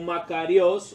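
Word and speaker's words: μακάριος: dicho en otras ocasiones la palabra en griego se pronuncia más o menos como makarios o algo así eso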